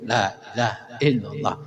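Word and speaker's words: لا إله إلا الله: bertanya sa ngucapin Lailahaillallah baik cara baca lailaha la di sini dibacanya panjang Seharusnya kan begitu tulisannya la kan gini kan lailaha illallah harusnya panjang lailahaah Karena posisinya sedang zikir biasanya gitu laahaillallah Tapi tetap secara hukum bacaan harus panjang lailaha illallah karena biasanya kalau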